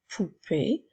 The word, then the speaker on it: poupée: de se rappeler que le dernier E est un e muet une poupée que je peux utiliser